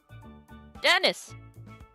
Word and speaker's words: Denise: is your name oh Dennis yeah oh my goodness I'm over here forgetting my manners messed up part is it smell it's spelled Denise but it's Dennis oh fancy yeah my